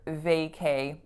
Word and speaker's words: vacay: really common to hear VACAY instead. So the vowel A on both syllables, VA and K. And the other thing to note is that the strongest syllable is, of course, the first.